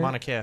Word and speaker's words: Mauna Kea: construction of the 30-meter telescope on top of Mauna Kea. Is that how you say it? Mauna Kea.